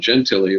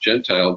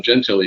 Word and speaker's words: Gentile: One of my favorite fighter pilots, a guy named Don Gentili. A lot of people think his name is pronounced Gentile, but it's Don Gentili.